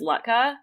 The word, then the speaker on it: latke: sounds, and it actually one that comes up a lot is Latka, which is spelled like Latke.